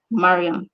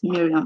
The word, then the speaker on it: Maryam: look this take notes it is pronounced mariam and not miriam like most of you pronounce it okay i'm a creative